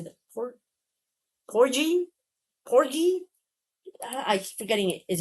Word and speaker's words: Porgy: Porgie? Porgi? I'm forgetting it. Is it G or G? God, I hate when I'm tick Tickle me again. Looks like porgie. Porgon. Porgie. Kind of like rhymes with corgi.